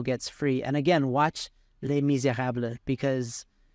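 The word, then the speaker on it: Les Misérables: free and again watch Les Miserables because or lay Miserables As Americans say it but I can't say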